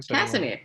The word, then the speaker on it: Casimir: Casimir, yeah.